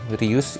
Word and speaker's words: Rhus: cks and the dragon I will use the name Rus instead of R because I use the Katakana Japanese pronunciation Dragon lording Warrior and